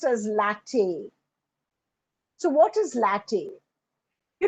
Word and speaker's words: LaTeX: as latex which is rubber actually but it's pronounced as Latin so what is Latin you know it's it's